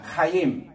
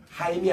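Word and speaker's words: חיים: 가는 길이냐 면은 카로이 생명 무 우리 따라합시다 카임 카임 카임 카임 우리 한국말로는 하이라고 어 번역을 이제 하는데 실제로는 키역 발음이 더 있습니다 따라합시다 카임 카 하임이 아니고 카임 약간 키 발음이 섞 있어요 왜냐면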